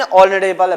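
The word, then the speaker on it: honourable: इसका मतलब है कि यहां पर उच्चारण जो स्टार्ट हो रहा है वो किससे स्टार्ट हो रहा है? ओ से। और ओ से लेकर औ के उच्चारण के बीच हम लोग क्या लगाते हैं? एन लगाते हैं।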